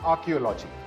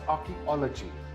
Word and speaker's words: archaeology: This word is not archaeology. This word is pronounced as archaeology. Again, this word is archaeology.